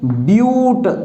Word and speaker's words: but: Next अगर आपके पास C is equal to 4 है तो अब इसको बोलेंगे ब्यूट, BUT। प्रोनाउंसिएशन भी आपका सही होना चाहिए, ब्यूट तो बन जाएगा ब्यूटेन।